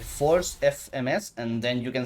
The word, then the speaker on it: Force: guy I'm telling you, it's called Force, like, may the force be with you. It's spelled the same.